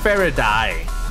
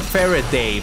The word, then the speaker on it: Faraday: my favorite die yes I pronounce it Faraday not fairy day Paradise because electric cars